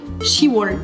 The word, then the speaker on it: 시월: Là, comme on est en octobre, soit le 10e mois, c'est donc Shiwol. On enlève le B par souci de prononciation, quoi.